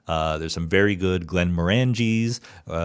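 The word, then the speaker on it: Glenmorangie: there's some very good Glenn morangis Glenn Glenn Mori or Glenn Mori I think it's pronounced um they have a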